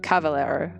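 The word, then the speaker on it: caballero: boringly hattie says that b is pronounced v most times in spanish okay so like cavalero okay asparagus you're looking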